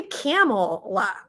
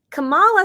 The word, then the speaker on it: Kamala: you know just call they say it worse they say camel camela and I'm like Camala sounds like a a flower it sounds beautiful allaha is the way